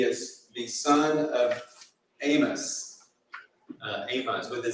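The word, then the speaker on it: Amoz: Amos with a Z, not an S. It's a different Amos, but it's pronounced the same, Amos.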